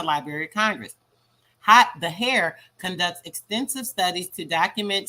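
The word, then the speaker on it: HAER: historic american engineering record h-a-e-r pronounced hair hair records american technology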